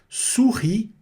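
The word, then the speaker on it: souris: Sopa surri. Não pronuncio o s.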